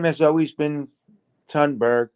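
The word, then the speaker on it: Thunberg: name has always been tunberg pronounced tune or toonberg whatever for me which is the current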